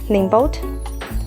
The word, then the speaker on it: NIIMBOT: is the brand n-i-i-m-b-o-t i think it's pronounced um name boat there is less info